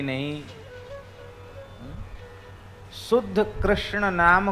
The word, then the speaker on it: कृष्ण: पर मंत्र में आपका ऐसे नहीं चलेगा कि कृष्ण को कृष्णा कह दो यह मंत्र में नहीं चलेगा राम को रामो बोल